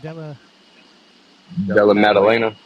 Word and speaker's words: Della Maddalena: So, okay, MMA Council, on 315, Muhammad versus Della, how do you pronounce it? Della Maddalena.